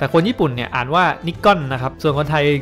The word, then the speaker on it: Nikon: แบรนด์ นิคอน นะ ครับ ซึ่ง จริง ๆ เนี่ย มัน อ่าน ว่า นคอน นะ ครับ แต่ คน ญี่ปุ่น เนี่ย อ่าน ว่า นิกอน นะ ครับ ส่วน คน